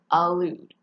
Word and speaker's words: allude: allude with an a and a double l a lewd now this word is with an e and